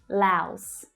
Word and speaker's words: Laos: Laos. Laos. This is the ow as in now vowel sound. Laos.